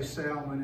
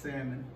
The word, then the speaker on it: salmon: I used to say salmon until I was corrected. I understand now it's pronounced salmon.